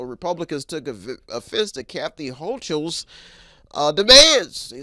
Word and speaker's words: Hochul: Democrat Governor Kathy Hochul, don't want to say that wrong, but that's what they're probably saying, Hochul in the Republican House, because they want her to be pronounced Hochul, told her opponents, this